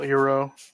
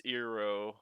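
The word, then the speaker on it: Iroh: think that's pretty funny i forgot they pronounced a general hero yeah it's eero god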